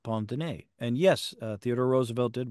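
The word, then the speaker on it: pince-nez: Pond Pond oh well it's it's not spelled like that it's spelled p i n c d NE Z but I believe it's pronounced Pond and yes the Roosevelt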